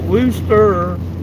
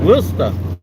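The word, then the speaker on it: Worcester: And apparently it's not Worooster, it's Wora. Apparently there's no Rs in the words in Massachusetts.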